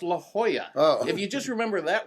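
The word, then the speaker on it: La Jolla: Lajala? Yeah. Oh, it's pronounced La Hoya.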